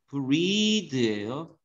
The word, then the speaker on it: breathe: 얘는 발음이 breathe예요. 동사예요. 숨쉬다. 얘는 발음이 breath.